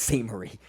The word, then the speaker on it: St. Marie: She's not St. Mary, it's St. Marie. It's just spelled the French way.